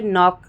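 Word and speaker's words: knock: example लेकर हम सीखेंगे एन से पहले अगर के आए तो के साइलेंट हो जाता है जैसे नॉक नीड नाइफ नो नी और नॉलेज नॉक नॉक में हम के का प्रोनाउंस कर ही नहीं रहे हैं ठीक है नीड में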